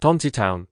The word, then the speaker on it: Tontitown: Tontitown. Tontitown, apparently is how you pronounce it.